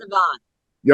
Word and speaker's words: Siobhan: a woman played brilliantly by an actress named Siobhan Cullen. She's phenomenal in this. It's pronounced Siobhan.